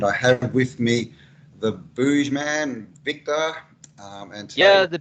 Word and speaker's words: Buggeman: scientific channel, and I have with me the Buggeman, Victor, and today... Yeah, the Buggeman. Yeah, I know it's hard to pronounce. Yeah. Yeah, it's kind of it's a play on the Boogeyman, because we're boogeymen that are coming and scaring people.